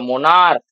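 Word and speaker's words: monarch: যদি দেখো মোনার্ক, এটা উচ্চারণ হবে মোনার্ক, লাস্টে ক আসছে, ক এলে শুধু এস যোগ করব, এটার সঙ্গে শুধু এস যোগ করে করে দেবো কি?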